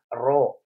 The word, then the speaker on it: rho: Hambatan jenis kawat ini dilambangkan dengan lambang seperti ini, dibacanya Rho, ya, dibaca Rho.